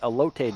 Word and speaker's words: elote: I got the elote dog, and I'm sure I'm mispronouncing that, but That's perfect. That's actually exact.